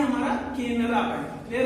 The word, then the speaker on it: केनरा: और K का मतलब होता है हमारा केनरा बैंक। क्या होता है? केनरा। वैसे ये के प्रोनाउंसिएशन में है, ऐसे C से केनरा होता है।